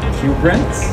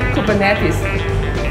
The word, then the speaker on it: Kubernetes: goes okay okay can you please pronounce this word cue brands okay thank you it's actually kubernetes cooper yeah yeah so we are visiting him